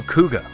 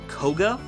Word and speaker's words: Koga: minor turbulence masked hero kuga uh it's pronounced koga i have been informed it is koga mastero koga is a